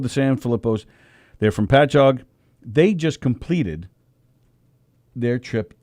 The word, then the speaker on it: Patchogue: island called patchogue it's spelled patago but it's pronounced patchogue it's um it really is spelled that way